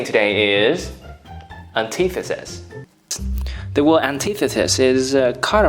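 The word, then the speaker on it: antitheses: Another thing you should pay attention to the word antithesis is that when it is plural, it is pronounced as antithesis. It is a long sound.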